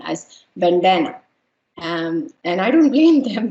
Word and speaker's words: Vandana: So how do you pronounce my name? Van, the, na. Vandana.